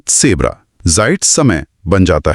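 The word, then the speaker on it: Zebra: German Z की ध्वनि अंग्रेजी के जेड जैसी नहीं होती बल्कि ये हमेशा की ध्वनि होती है। जैसे पिज़्ज़ा के बीच में या पुट्स शब्द के अंत में आती है। अक्षर का नाम है सेट। इसीलिए जिब्रा बन जाता है सेब्रा जाइट समय बन जाता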